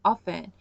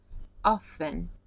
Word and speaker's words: often: T 소리 안 나와요.